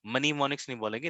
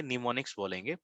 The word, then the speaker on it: mnemonics: we will discuss mnemonics pronounced as mnemonics, ठीक है? यहाँ पे m silent है, यहाँ पे याद रखना, जो m है आगे silent है, हम इसको mnemonics नहीं बोलेंगे, mnemonics बोलेंगे, pronounced as mnemonics, method or techniques of enhancing memory.